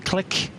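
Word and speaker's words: Qlik: as well called uh click q l i k which they are kind of rolling out as in the the word click it's pronounced as a data integration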